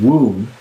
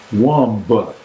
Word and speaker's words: womb: word womb is spelled womba. Oh, I don't know that. Womba. Yeah, but Okay. or That's like, womb. yeah, womb, okay? What do you want? WOOM? Womb? Exactly. Take the B off.